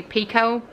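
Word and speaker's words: Picoult: Here's the thing about I think they say Jodi Pico. I think I've always said it wrong. I heard somebody in an Instagram or TikTok video say Pico. So that's what I'm going to say.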